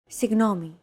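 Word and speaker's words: συγγνώμη: romanized like this signomi this character isn't pronounced using an English G sound at all who it's like a very soft continuous and loosely held G almost as if you're gargling but don't make it sound too throaty oh there's no such sound in English but most people would transcribe this using the letter G because that's the closest equivalent in English pronouncing it like an English G however would be a huge mistake to get that sound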